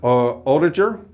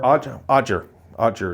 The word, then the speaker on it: Oettinger: Jake Oettinger, or Odger is the way it's pronounced, I believe, Odger.